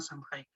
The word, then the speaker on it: Samhain: Es bueno, un derivado de la fiesta celta de Año Nuevo llamada Samhain, o Samhain, como se prefiere pronunciar.